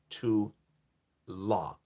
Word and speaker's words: Teula: 2LAH, says Teula. She's saying how to pronounce her name. Tula. Oh, Tula. Oh, Tula.